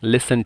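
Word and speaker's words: listen: यहां पर लिसन जो है एल आई एस टी इ एन या टी साइलेंट है। तो यहां पे हो जाएगा लिसन टू दिस। टी को हटा देंगे।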